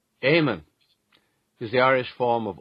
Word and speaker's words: Eamon: don't you take a crack at this one Eamon Shetty is that your guess as well as well yes Eamon so it's e-a-m-o-n and here is the correct pronunciation amen is the Irish form of Old English aired